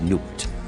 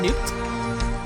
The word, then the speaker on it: Nubt: think we have now i would never pronounce it as newt i would have called nut but that's just my english way of pronouncing the b okay so our objectives